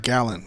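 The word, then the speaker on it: Gallen: caught it okay so I guess I was saying his name wrong so it's Zach gallon okay doesn't really matter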